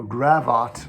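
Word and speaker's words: gavotte: they' be your partner so gravat rhyming with yacht and apparently that's why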